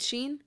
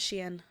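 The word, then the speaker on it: Shein: well I callau Sheen but the person that created that app calls it Shen why don't you say Shen if you know the correct way to pronounce it it just sounds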